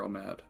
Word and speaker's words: Omad: Spell that, please. Omad, O-M-A-D. And god of fortune? Yep. Is it Omad or Omad?